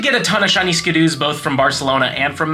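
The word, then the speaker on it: Skiddo: We do have the brand new Skidoo or Skidoo. Honestly, a lot of people have been arguing how to say it. I think Skidoo is more fun to say, so I just go on with that.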